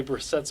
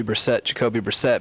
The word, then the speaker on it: Brissett: Jacoby Brissett's playing good ball for us right now. All right. I'm just glad you called Jacoby Brissett, because you know what your buddy Brandon calls him? Brissett.